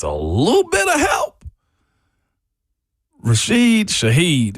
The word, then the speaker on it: Rashid Shaheed: that needs just a little bit of help, Rashid Shaheed, how you say it? Yeah, you got it right. Rashid Shaheed.